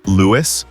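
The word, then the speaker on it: Lewes: Lewis, pronounced Lewis, is one of the oldest towns in the United States.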